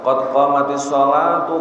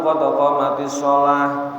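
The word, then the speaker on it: qad qāmatiṣ-ṣalāh: Kalau memang itu membacanya diteruskan ya qad qamatis sholatu, qad qamatis shalah. Bilangnya gitu. Kalau memang wakaf ya qad qamatis shalah, qad qamatis shalah, harus diganti taknya, ganti ha.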